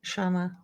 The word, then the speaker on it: Shona: Shona. Oh, yeah. Long O. If it's a long O.